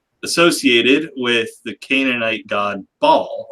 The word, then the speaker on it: Baal: And the name Beelzebub is often associated with the Canaanite god Baal, or if you're pronouncing it correctly, Baal, because there's a little apostrophe between the A's there.